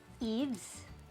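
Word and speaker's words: Yves: Ang tatandaan nyo sa first rule na to, kapag ang proper names nagsisimula sa letter Y, hindi natin siya pwedeng i-pronounce as yeah. It has to be sounded as long E. Like the name Eves, that's Y-V-E-S.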